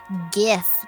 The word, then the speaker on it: GIF: here's the big question how to pronounce Jeff it's Jeff okay I'll prove it to you how is it diff it's GIF like it's Graphics not Dave okay I I